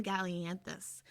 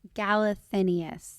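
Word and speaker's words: Galathynius: Archer is helping Celaena get information from a group of people trying to fight the king by finding Aelin Gallianthus.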